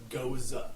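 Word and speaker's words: Gose: lot of Gosa beer in my life it's pronounced goza is it goza go okay I over annunciate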